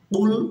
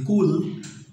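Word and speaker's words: قُلْ: কুল বলি কুল বললে অর্থ চেঞ্জ হয়ে যাবে কুল এটার কফ দিয়ে এটার অর্থ হচ্ছে হে নবী আপনি বলুন আর কাফ দিয়ে যদি বলি কুল তাহলে এটার অর্থ হবে আপনি খান অর্থাৎ খাওয়ার কথা বলা হবে।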